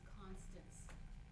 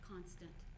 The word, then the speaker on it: Constance: My first name is Constance, not Constant.